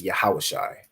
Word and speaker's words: Yahawashai: So Ya, Ha, Wa, Sha, and I. That word you'd pronounce it as Yahawashai.